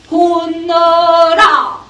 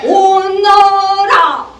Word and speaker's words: 오너라: 이리 혼너라. 혼너 no. 호가 아니라 온너라. 지금 네. 발음을 계속 먹고 계시거든요. 네네네. 뱉으셔야 돼요. 노래를 뱉으셔야지 왜 먹고 가세요? 안 돼요. 알겠습니다. 이리 오너라.